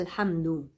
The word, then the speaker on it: الحمد: يبقى الحمد، اللام منطوقة اهي. الحمد ولازم وانا بقول شفايفي تمتد الى الامام، ما اقولش الحمد وشفايفي رخوة كده ونايمة لتحت.